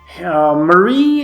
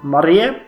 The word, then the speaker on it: Marie: Peter the fifth Kinski Marie has stepped down or Maria if you pronounce it as you should in check and Peter has taken